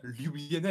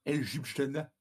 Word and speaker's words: Ljubljana: On dit bien Ljubljana et pas Ljubljana.